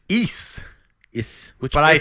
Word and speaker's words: Ys: Which Weeze? Ease. Weeze? Like geese, but with Ice? Ease. Geese. Geese without the G.